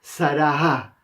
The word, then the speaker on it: Sarah: Nosotros en el español solamente escribimos Sara, pero en realidad va una H detrás de Sarah. Nosotros la H en el español no la pronunciamos, por eso tampoco no la escribimos en este caso, pero normalmente en las